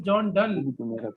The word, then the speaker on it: John Donne: Okay, Sir, my done. dear, first thing is that it is John Donne, right? Pronounce it clearly, Yes, sir.